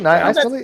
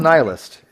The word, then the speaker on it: nihilist: Yeah, I say nihilist. That's what some of them do. I call it nihilist. I have a friend of mine goes under the handle nihilist on the internet and stuff, and and I called him nihilist for about 12 years, and somebody who's an English teacher told me it's not actually pronounced that, and I felt like a real ignoramus.